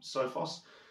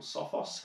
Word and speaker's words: Sophos: that some information from sofas or Sophos however you want to pronounce that they are a big